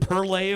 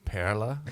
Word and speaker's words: Perle: Actually pronounced perla in the German. I totally messed it up. Yeah. It's okay. It is the German word for pearl, so you can say pearl.